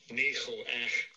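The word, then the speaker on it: ניחוח: But the word sweet is pronounced this way. Strong's H, 5207. Nicho-ah.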